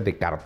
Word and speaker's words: Descartes: un ejemplo cuando René decart mal pronunció Descartes se escribe Descartes pero se pronuncia decart porque es francés escribe en su famoso